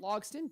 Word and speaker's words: Logsdon: Lo how do you say your last name logon logon simple and an unusual spelling on Kate I